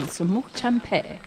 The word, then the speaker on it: Semuc Champey: Correct pronunciation, Semuc Champey.